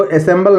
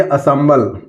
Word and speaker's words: assemble: इसको असेंबल नहीं पढ़ेंगे, इसको पढ़ेंगे असम्बल।